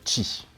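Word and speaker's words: Qi: intègre donc la technologie qui se prononce d'ailleurs qui et ça c'est plutôt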